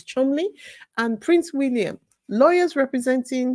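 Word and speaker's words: Cholmondeley: the matchness of shon the pronunciation is Chumley and Prince William lawyers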